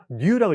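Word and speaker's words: 乳: 그다음에 전 유자인데 이거를 치라고 읽지 말 그냥 뉴라고 읽는게 맞는 거 같습니다.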